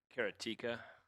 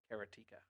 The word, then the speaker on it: Karateka: well so did karateka it did karateka keratica hey I could mispronounce it however I want like a heart artery of the plug but you noticed he pronounced it so it rhymed with erotica well yeah it doesn't